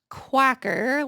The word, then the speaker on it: Quacker: Quacker, like a duck, factory women's cardigan.